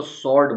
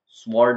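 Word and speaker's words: sword: एस डब्लू ओ आरडी इसको सर्ड बोलते सर्ड इसमें डब्लू का साउंड नहीं आएगा सर्ड सर्ड का मतलब होता है तलवार स्वर्ड ना बोल कर के सर्ड ऐसा बोलेंगे डब्लू को साइलेंट रखा जाएगा इस वैसे ही है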